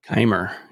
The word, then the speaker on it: Keimer: And also, uh, Kyle, is it pronounced Kimmer? Kyle Kimmer. Kimer.